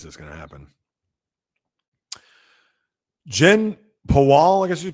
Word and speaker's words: Pawol: Jen Pawal, I guess you pronounce her name, Pawol.